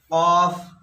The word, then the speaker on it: قاف: কফ, এই কাফ, কফ আমরা সাধারণত ভুল করে থাকি। কফ জবর হয় ক, আর কাফ জবর হয় কা। হ্যাঁ, তাহলে কফ, এই কফের উচ্চারণ মোটা হবে, কাফের উচ্চারণ হালকা হবে।